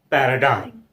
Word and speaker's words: paradigm: Next word, where G remains silent before M, that is paradigm.